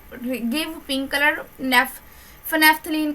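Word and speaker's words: phenolphthalein: यहाँ पर ना उर्दू में मिस्टेकली ऐसे लिखा हुआ, आई थिंक सो, क्योंकि इसकी प्रोनाउंसिएशन तो फिनेफ्थलीन ही बनती है।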